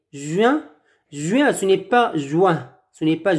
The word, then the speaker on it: juin: Juin, ce n'est pas juin. Ce n'est pas juin. Ce n'est pas la prononciation, ce n'est pas wa. C'est UI, U1, U1, U1, juin, juin, juillet.